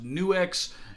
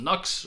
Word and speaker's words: NUX: a font style hyphen, that would separate the NU from the X and make it pronounced New X, or if it's just a graphic, they saw, so hey, there's some space, let's fill that in with a triangle, and it's still called Nux or Nukes, or or if it's